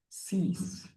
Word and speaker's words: six: Six is cease.